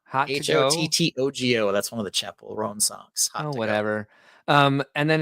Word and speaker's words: Chappell Roan: That the first time I heard her name, Matt Husband said Chappelle Roan, and I can't get that pronunciation out of my head. Chappell Roan. Makes more sense.